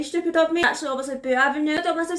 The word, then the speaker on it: Boux Avenue: The whole video I mispronounced it as Boux Avenue, which might be very Scottish, which is very stupid of me. Actually, obviously Boux Avenue.